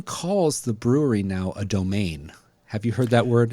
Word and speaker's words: Domaine: I usually see with a trailing E, domain. It just makes you want to say it like it's French.